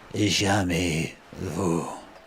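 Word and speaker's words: jamais vu: it for the first time and that is pronounced Jami Vu bour this is Julian the Frenchman who makes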